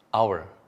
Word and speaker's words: hour: An hour, 1 jam, meskipun ditulis dengan huruf H, O, U, dan R, dibacanya hour, sehingga kita gunakan an hour, 1 jam.